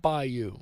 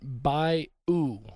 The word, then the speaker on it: bayou: consider this the word by you b-a-y-o-u is spoken several different ways in louisiana depending on location the two most common pronunciations are by yo like bi dash y a h and by u b i dash u